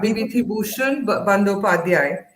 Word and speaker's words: Bibhutibhushan Bandyopadhyay: yeah, Bibhutibhushan Bandyopadhyay, right?